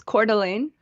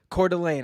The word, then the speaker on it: Coeur d'Alene: i'm unfamiliar with idaho honestly how do you pronounce the city again uh it's coeur d'alene coeur d'alene i was going to say antifa super soldiers